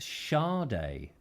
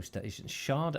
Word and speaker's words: Sade: David, pronounced Sade. Oh, Sade.